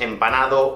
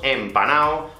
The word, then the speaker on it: empanao: en panamá de hecho en españa no decimos empanado o empanada decimos empanado o esta chica está en panal es muy raro ver cómo se pronuncia la última de así que simplemente la omitimos voy a quitarte fue